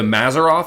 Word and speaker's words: Mazzaroth: speaking to Joe and he refers to the mazzaroth is that how you pronounce it yes and that's supposedly the Hebrew